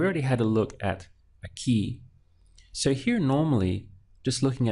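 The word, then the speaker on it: aquí: is that I push down I stress the syllable before last so I would say Aki but that's not how the word is pronounced in Spanish it's a key and to indicate that this word has broken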